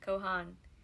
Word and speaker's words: Cohen: was spelled cohen and pronounced with an accent on both syllables cohan the b cohen residents